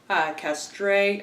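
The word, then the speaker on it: Castrée: cartoonist and musician, Geneviève Castre, I think is how you pronounce her last name. It's very French.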